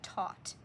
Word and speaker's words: taught: T is the T, and then the aw is A-U-G-H. There's your aw, and the G-H in some words is silent. That's a pattern you can start to recognize. Together, they're gonna say aw, and then the last sound is T.